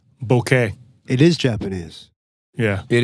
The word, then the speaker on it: bokeh: It's a Japanese word, so I think it would be like bokeh.